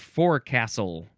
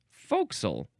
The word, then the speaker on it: forecastle: This pronunciation is forecastle. Forecastle? You could say forecastle. Oh, yes, forecastle, because you can spell it F-O''C''SLE, because we couldn't say forecastle. We had to shrink it down to forecastle.